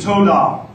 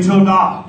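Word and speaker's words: towdah: say yah Y the second Hebrew word is TOA say TOA to spell t o w d a h but pronounced to it's it means to extend the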